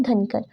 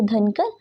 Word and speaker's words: धनकर: जैसे पहला है शाशुर मठ, नेक्स्ट है धनकर। तो इसकी प्रोनाउंसिएशन आपको अलग अलग बुक्स में अलग अलग मिलेगी, जैसे धनकर, दंकर या द्रंकर।